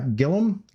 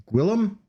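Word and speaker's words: Gwilliam: this politician's name is I'm going to mispronounce it uh Roger Gillum Gillum gwi I L L I am am looks like should be William but I it's Welsh I just I'll just call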